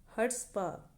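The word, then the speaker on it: chutzpah: उसको क्या कहते हैं, हर्ट्सपा, ठीक है, क्या कहते हैं, हर्ट्सपा। सी इसमें साइलेंट रहता है, अगर स्पेलिंग याद रखने के लिए आप बोल सकते हो चर्ट्सपा, वैसे क्या है, इसको कहते हैं हर्ट्सपा।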